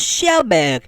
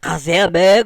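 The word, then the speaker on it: Kjellberg: all the corrections about your name's phonetic it's pronounced shellberg not kelberg or gelberg but by that stupid fonetic logic your first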